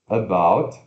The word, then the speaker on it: about: About significa sobre, a respeito, né? A-B-O-U-T, como se fosse about, mas se pronuncia schwa, apóstrofe indicando sílaba tônica, B-A-U ferradura T, about, about.